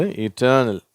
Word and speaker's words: eternal: இது ஆரம்பத்தில் ஈயில் இருந்தாலும் அதை ஈ அப்படின்ற உச்சரிப்பு தான் சொல்கிறோம். சரியா? ஐ வந்தால் தானே ஈ சொல்லணும் அப்படின்னு யோசிப்பீங்க. இது இட்டர்னல்.